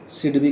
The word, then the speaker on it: SIDBI: को ओके या को आमे कोन प्रोनाउंस कहि थाउ आमे इकोनॉमी रे सिडबी कहि थाउ कोन कहि थाउ सिडबी ओके तो